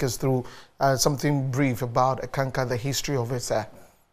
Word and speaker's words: Eckankar: So if you could just take us through something brief about Eckankar, the history of it, sir. Now, Eckankar is a two-syllable. The first one is the Ek. Ek. Mm. And then Anka.